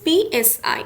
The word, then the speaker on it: psi: It is denoted by a symbol psi, and the spelling is PSI. Okay. The P is silent, so it's known as psi.